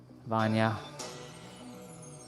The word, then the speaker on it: Vanya: Thank you, Vanya. That's how you say her name. I found out how you say her names.